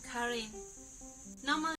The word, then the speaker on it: Karen: I'd pronounce incorrectly like I'm almost willing to bet money that this is not just pronounced Karen hello everyone today I will teach you how to greet in Karen okay never mind that is how you say it now let's take a